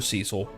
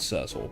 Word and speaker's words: Cecil: that title more for Cecil and yes I call him Cecil not Cil because we have a Cecil County out here and that's how the we pronounce it he he dragon born